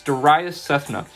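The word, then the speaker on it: Darayus Sethna: my name is the second one down it's daria cethna it's spelled d-a-r-a-y-u-s-s-e-t-h-n-a once you click on my name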